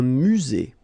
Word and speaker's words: musée: Un musée. Final not pronounced. Un musée.